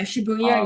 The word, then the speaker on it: Shibuya: I can't pronounce it. I want to say Shibuya. I think you said it was called. Yeah, Shibuya, yeah.